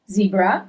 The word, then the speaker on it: zebra: from him zampa zedra zebra so you actually write in the very same way you write it in English but the pronunciation is different as letter e in English is letter a in Italian okay zebra ambitio ambitious is you see here.